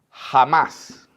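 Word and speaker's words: חָמָס: Y esta palabra, violencia, es la palabra hebrea número, miren, la 2555, que se pronuncia jamás.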